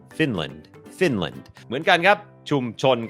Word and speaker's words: Finland: ฝึก ออก เสียง ฟินแลนด์ อ่าน ว่า Finland Finland โอเค อัน นี้ บ่ง บอก ว่า อ่า จำ ได้ มย อัน นี้ ก็ เน้น พยางค์ ขึ้น สูง fin พยางค์ ไม่ เน้น land Finland Finland เหมือน กัน ครับ ชุม